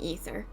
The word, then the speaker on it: Aether: ether currents forever and it's definitely not pronounced Aether I'm supposed to be saying ether I acknowledge that it's